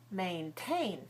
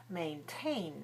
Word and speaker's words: maintain: Maintain, that's the same thing. Maintain has two syllables. It's stressed on the second. The second one begins with a T sound, so we let out a strong puff of air like this.